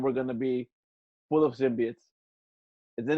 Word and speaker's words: symbiotes: zimbab and then we're gonna be full of symbiotes and then it's pronounced symbiotes not symbiotes symbiotes that's